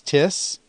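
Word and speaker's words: τίς: and accusative is tena you'll notice that the accent falls on the first syllable when there are two syllables as opposed to the indefinite pronoun which has it on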